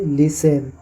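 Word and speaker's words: listen: उसी प्रकार silent T, जैसे फासेन, जैसे लिसेन।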